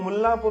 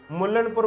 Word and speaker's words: मुल्लापुर: अब मैं आपको एक यहां पे कहता हूं मुल्लापुर उसका नाम है एन को साइलेंट रखना है। मुल्नपुर बोलते हैं बहुत लोग।